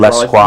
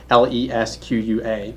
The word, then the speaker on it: L'Esquire: And he said, L'Esquire. he said if you were to spell it phonetically, it would be Lesqua.